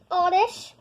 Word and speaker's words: Oddish: How to say it? Odd-ish.